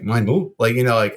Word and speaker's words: Meinl: Now and technically it should, if I MIENL, it would actually lend itself more because it could be Meinl, or because it's like LI creates the I in the forefront of the pronunciation, right?